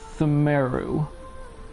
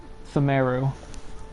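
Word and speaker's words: Pthumeru: Themeru. PTH, that'll be silent. Themeru.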